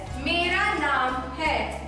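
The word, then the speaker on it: मेरा नाम है: is my name is in Hindi it is pronounced as Mera naam Hai and m e r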